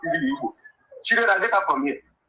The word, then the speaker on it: Igbo: Whereby our original pronunciation of our name is Igbo.